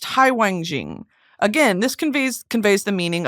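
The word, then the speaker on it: 海王星: Neptune is similar, literally ocean king star, pronounced Haiwangjing.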